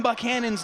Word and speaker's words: Buchanan: had some people saying, you're saying Tim Buchanan's name wrong. It's Buchanan like the president.